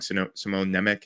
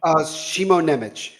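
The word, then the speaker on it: Šimon Nemec: And I always get this guy's name wrong. Simone Nemec, is that how you say it? Shimo Nemec.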